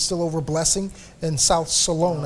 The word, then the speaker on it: Solon: But it's still over Blessing in South Solon. I think I pronounced it Solon earlier. Please forgive me. I'm from Northeast Ohio. We pronounce it Solon up there.